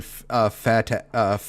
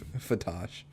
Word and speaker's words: Fatosh: Okay, I was pronouncing it wrong before. I kept pronouncing fatash.